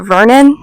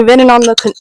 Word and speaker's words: venin: And they didn't find any venin on the trip, which I think I pronounced it Vernon. Last recap, it's venin.